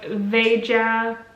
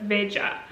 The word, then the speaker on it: Veja: In Portuguese it's not like Spanish. So this would be, if it would be Spanish. But since it's Portuguese, I suppose it's not pronounced like Veja, but Veja.